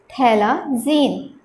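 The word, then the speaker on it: phthalazine: It is pronounced as thalazine. The pH is pronounced as a silent character.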